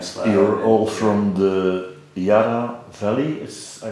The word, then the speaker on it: Yarra Valley: You're all from the Yarra Valley, I pronounce it well.